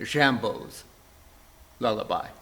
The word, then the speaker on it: Jimbo's Lullaby: the work is called jimbo's lullaby or perhaps in the french pronunciation jambo's lullaby debussy marks the score